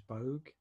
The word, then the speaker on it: Boag: to the second podcast today I have James bug here that pronounced that right yeah yeah and today we're